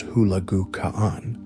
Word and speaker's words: Hulagu Khan: Song dynasty in southern China, while Hulagu Khan, pronounced Hulagu Khan, was given the mission of destroying the remaining Islamic caliphates in the Middle East.